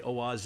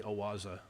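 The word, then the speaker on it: Oase: products owaza it's o-a-s-e a lot of people say oh aze it's actually awasa you can pronounce it however you want um they make incredible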